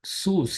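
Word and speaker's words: סוס: is SS King James uses C WC but sus is how it is pronounced Within These curly braces I'm giving you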